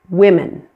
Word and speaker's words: women: The word women. That O in women is pronounced as a short I.